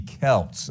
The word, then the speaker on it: Celts: basketball team here no it's actually pronounced the Kelts okay but I think sometimes the basketball name throws us off all right thank you the Kelts it does look like selts though number two name